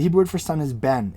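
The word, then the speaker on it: בן: The Hebrew word for son is ben. It's spelled bet nun.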